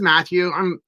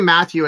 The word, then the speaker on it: Mathew: Yeah, my name is Matthew. People know me as. But if you say Matthew, it's with one T, so make sure you pronounce it right. It's not pronounced differently.